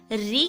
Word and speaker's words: ऋ: वर्ण के नीचे लगाते हैं और इसका उच्चारण जो होता है री। कभी कभी हम इसको रू भी पढ़ते हैं, कभी हम इसको री भी बोलते हैं। जब इसकी मात्रा के रूप में हम इसको पढ़ेंगे तो री ही इसका उच्चारण करते हैं।